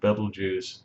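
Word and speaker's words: Betelgeuse: serus that's a really really cool star called Beetle Juice or Bal juice the way it's real pronounced but we call it Beetle juu and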